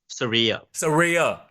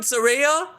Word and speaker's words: Saraya: How do you pronounce the name? Saraya.